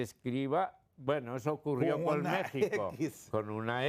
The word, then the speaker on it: México: Y miré el caso de México, le digo, "Vos no decís México, decís México y el sonido es J."